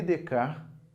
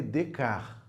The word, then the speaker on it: Descartes: Pronuncie corretamente aqui comigo. René Descartes. Não se pronuncia a parte final aí no francês.